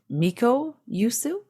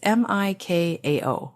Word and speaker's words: Mikao: So Reiki was discovered by a man named Miko Usui. Would that be how you pronounce his first name? It's Mikao. It's Japanese. yeah.